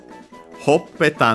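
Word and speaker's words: ほっぺた: The accent is on the pe.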